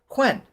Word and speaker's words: Huynh: his last name because it's spelled hu Y NH and I don't know what I said in the past, but I'm sure I butchered it immensely. So, Quen, nice and simple.